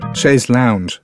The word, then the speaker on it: chaise longue: word was shares long chaise lounge she said pronouncing it as all iowans perhaps all Americans did ashes long in those